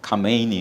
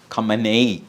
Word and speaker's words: ഖമേനി: സി ഇറാന്റെ സൈന്യമല്ല ഇറാനിലെ ആ കമേനി ഉണ്ടല്ലോ കമനൈ എന്നും വായിക്കും കമേനി എന്നാണ് ശരിയായ ഉച്ചാരണം എന്ന് തോന്നുന്നു എന്ത് വായിക്കോട്ടെ ആ മനുഷ്യൻ